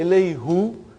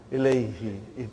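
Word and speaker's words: إليه: Now if I say ilayhu, see, look at the way you make your mouth, muscles in your mouth. Ilayhu. It takes extra effort. And even also, it doesn't sound nice to the ear. So, who became now pronounced ilayhi.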